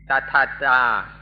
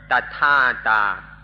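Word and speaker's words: tathatā: This thing that you maybe have never heard about, in Pali it's called tathata, or tathata. We can use either of these pronunciations.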